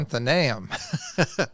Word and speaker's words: Athenaeum: And then the second one in theology, and you're going to have to help me with the pronunciation, Vince, and From the Athenaeum of Ohio. Athenaeum of Ohio, thank you, in Cincinnati.